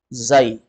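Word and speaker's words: زاي: Zai. Bacanya zai.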